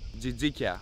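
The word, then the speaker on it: τζιτζίκια: do you say crickets in greeka remember that jika plural Jas singular almost close as TI pass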